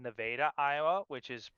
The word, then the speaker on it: Nevada: I am from uh so it's a place called Nevada, Iowa, which is pronounced Nevada, but it's spelled exactly like Nevada.